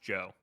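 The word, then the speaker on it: DJO: Um, the billboard says it's pronounced Joe.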